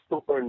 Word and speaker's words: Thorne: No, it's Thorne. The E is silent.